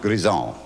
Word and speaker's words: Grizzard: The name Grizzard, when pronounced correctly, is a beautiful melody. It's a French name. When it's pronounced Grison. Grison. It means wild stallion, incidentally. Some people have the audacity to ruin my name and call me Grizzard.